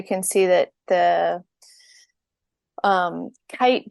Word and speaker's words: KAIT: see that the um kite building so it's spelled k AI t uh from ishigami is